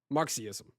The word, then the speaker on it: Marxism: Marxism.